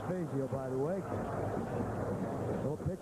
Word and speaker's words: Fazio: His name is pronounced Fazio, by the way.